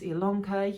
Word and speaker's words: Ilonka: My name is Ilonka. Yes, it's spelled with an I, but pronounced with an E.